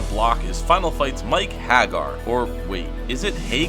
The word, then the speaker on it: Haggar: final fight 2 in a very American sounding pronunciation saying it's Haggar the character Maki says it out loud during